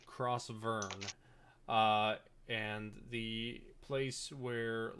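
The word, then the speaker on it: Crausvurn: continent is uh crossburn it's spelled uh c-r-a-u-s-v-u-r-n crossword ah Vern I wrote F okay cross Vern uh and the place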